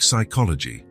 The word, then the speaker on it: psychology: It comes from Greek, Wesley would explain patiently. Like psychology. The P is silent, but it's still important.